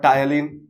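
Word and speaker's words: ptyalin: call salivary amylase or tyalin. P is silent here.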